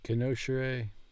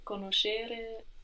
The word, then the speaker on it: conoscere: Voi conoscere la mia amica? Vuoi conoscere le mie amiche? Good. And where is the accent on the verb to know? Conoscere. Conoscere. Vuoi conoscere le mie amiche?